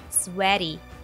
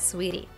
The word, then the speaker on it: sweaty: r sweaty sweatier and be careful with the pronunciation it is sweat not sweet sweaty not sweetie do you have to